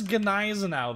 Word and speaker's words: Gneisenau: And yes, it is Gneisenau. There is a hard G there. Old German name.